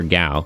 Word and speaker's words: Gao: Gow or Gao? Ga like uh the the SFX for like like a lion roaring in Japanese. So G- AO.